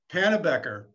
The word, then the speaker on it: Pannebecker: We've got Pannebecker, which I just found out from Lynn is she pronounces it wrong. The B is not silent.